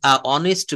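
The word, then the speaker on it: honest: beautiful beautiful Marufa is অনেস্ট girl অনেস্ট না অনিস্ট অনিস্ট অনিস্ট সন্ডুস সন্ডুস সামসাম আমরা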